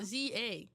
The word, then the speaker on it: SZA: So when I first found out who SZA was, I did refer to her as Scissor. Why? Because that's what her name is. No, it's SZA. It's SZA.